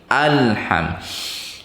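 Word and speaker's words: الحمد: Nah, kesalahan pembaca Al-Fatihah biasanya ada yang berkolkolah lamnya. Alhamdulillahi Rabbil. Nah, jangan, karena huruf lam tidak punya sifat kolkolah. Jadi ditahan. Alham. Mudah-mudahan bisa diperbaiki apabila bacanya seperti itu. Alhamdu, alhamdu, ha itu huruf ha kecil, tadi andakannya di tengah tenggorokan sudah dijelaskan. Mim sudah juga. Alham ditutup dengan sedikit renggang dan lembut.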